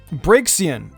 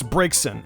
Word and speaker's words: Braixen: T in its spelling break seein its braixen and I Manor in